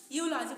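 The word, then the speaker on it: eulogy: यूलॉजी बहुत से लोग इसको यूलॉजी नहीं बल्कि इसको यूलॉजी मतलब ई से इसको प्रोनाउंसिएट करते हैं, पहला अक्षर ई लगाते हैं। बट यहाँ पर ऐसा नहीं होगा, यहाँ पर ई हमारा जो है ना ई साइलेंट मतलब सो रहा है, तो इसलिए यहाँ पर हम इसको यूलॉजी पढ़ते हैं।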